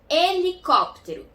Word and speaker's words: helicóptero: melhor LH oh oh e quando é a primeira letra de uma palavra não tem som por exemplo helicóptero começa com H mas a gente só pronunciou é que a segunda letra de helicóptero hipopótamo é com h